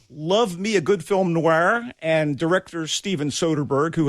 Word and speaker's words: noir: certainly does so well is that how you say it noir you see it kind of oddly i thought it was film noir noir hey look i'm from